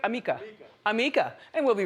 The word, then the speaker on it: Amika: We're going to send you a $100 gift card to Amaka. And did I say it right? Amika.